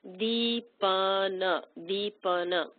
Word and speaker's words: deepana: The letter I with a long line over it makes an E sound. Deepana.